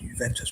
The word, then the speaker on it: Juventus: So it's pron pronounced Juventus but it's with a J and it means youth in English apparently.